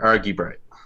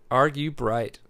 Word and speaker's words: Argubright: Like you're arguing with a bright person. Argue bright. Argue bright.